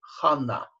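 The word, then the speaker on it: חנה: Заимствованные слова произносятся так, как если бы в них не было удвоения. Например, что такое имя Анна? Почему оно пишется через два «н»? Совершенно непонятно. В иврите «хана» от слова «хен», что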